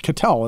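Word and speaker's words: Ketel: have done salary RSE right Kel catel it's catel isn't it yeah we can't pronounce any Diamond Backs namel Kel Marte we're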